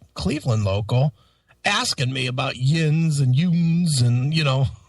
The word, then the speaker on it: yinz: brother locally, Cleveland Cleveland local, asking me about Yinz and Youns and, you know, all these different phrasings that I have not heard it. Yeah, it's why it's Y I N Z.